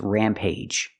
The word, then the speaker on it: rampage: the first one is Rampage use a long a sound plus J the hard J sound like juice and jump Rampage it's like when someone